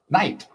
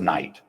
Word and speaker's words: night: Night. Yeah. Same with night. Spelled n i g ht, but we say night.